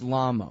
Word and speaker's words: Lamo: of Adrian lamo because or is it lame oh I don't know if if it really is lame oh I don't want to have been mispronouncing it this whole time and let him go ahead and have that but it's Lama okay and so now he